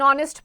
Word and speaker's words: honest: Then words beginning with a silent H take an before them. Examples: an hour, an honest person, an honor.